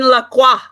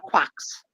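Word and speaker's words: Lacroix: to say it because some people don't know and they say like quacks and it's not Quacks the ex is silent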